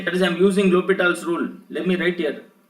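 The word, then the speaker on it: L'Hôpital: this is actually called l'hopital's rule it is written as l hospitals h and s is silent so it should be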